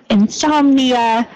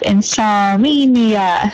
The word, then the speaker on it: insomnia: just changed one pronunciation so insomnia instead of insomia so I was hearing a slight extra vowel sounds after the psalm insomnia insomnia otherwise great work thanks thing